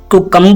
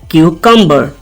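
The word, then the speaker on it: cucumber: grey Pammi granite दोस्तों कुकं नहीं कहेंगे कुकं यह गलत प्रोनंसिएशन है इसकी करेक्ट प्रोनंसिएशन क्या है क्यू कंबर क्यूकर कुकं नहीं क्यू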